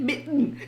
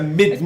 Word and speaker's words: midden: The other said, she thought you said mitten. It's very similar. Yeah, it's a midden. Especially if it's not your first language, then D and T sound very with similar.